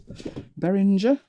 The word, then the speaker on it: Behringer: that there's a case they are bearing de behringer they pronounce it nice case nice case